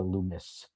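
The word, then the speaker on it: Lummis: That Wyden, a co-sponsor of the standalone Barca BRCA legislation in the Senate alongside Senator Loomis. Like hummus. It rhymes with hummus.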